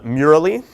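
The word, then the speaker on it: Mural.ly: it off because i think it's fantastic called murali uh it is spelled m-u-r-a-l-l-y um we'll post the slides and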